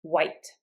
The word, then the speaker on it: white: Now, if we have a wh, you might want to pronounce it with a lot of air, and that's fine. You can also pronounce it with just the W sound. White.